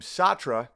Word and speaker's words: Sartre: there's this guy named satra and I people pronounced at all different ways I'm pronouncing it the English way who's a postmodernist what